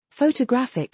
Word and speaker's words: photographic: Photograph has first syllable emphasis. Photographic shifts it to the third.